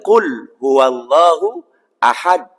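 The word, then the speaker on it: قُلْ هُوَ اللَّهُ أَحَدٌ: ya sudah fasih hafal qulhuallahu Ahad penutupnya pakai ta itu juga salah berarti Qul huwallahu Ahad ada qalqalahnya yang lumayan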